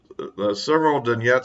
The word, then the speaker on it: Severodonetsk: The big development is, I guess, that Severodonetsk, because that's how it's pronounced.